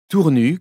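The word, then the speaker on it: Tournus: Tournu, qu'il convient de prononcer sans son S final, est une jolie petite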